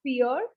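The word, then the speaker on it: vier: word is dry dry like in english we have fear same is the pronunciation fear now here you can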